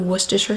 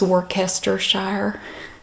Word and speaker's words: Worcestershire: sour cream you also need a tablespoon of Worcestershire sauce and I also have great value Worcestershire